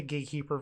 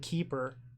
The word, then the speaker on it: Gatecreeper Vine: Axebane Guardian play a Gatecreeper Vine yes grab a Forest pass the turn they play a Gatecreeper Vine sure I've been saying it wrong this whole time it's gate creeper I've been saying keeper whoops now they play